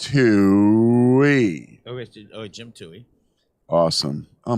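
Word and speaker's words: Towey: Book club was amazing with Jim Toohey, a book about Mother Teresa called To Love and Be Loved. I don't know. I had to ask him. I think it's T-O-W, but that's pronounced Toohey.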